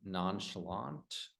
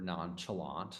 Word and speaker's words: nonchalant: Okay, so the word sloppy, inconsiderate, fidgety, conscientious, and then nonchalant or nonchalant. Some people say it like that. Okay, that's a French word.